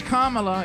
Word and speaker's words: Kamala: all sing for kamla it's kamla if you don't pronounce it right of course that's because